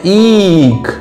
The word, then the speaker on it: ईख: इसकी आवाज, इसका उच्चारण थोड़ा सा बड़ा होता है, उसको दीर्घ उच्चारण भी कह देते हैं। इसका उच्चारण थोड़ा सा लंबा होता है, ईख।